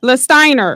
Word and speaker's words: Lastiner: Lastiner.